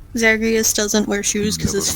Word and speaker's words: Zagreus: I think it's just Zagreus. Just going by, like, other rules that I know about of like Greek pronunciation stuff.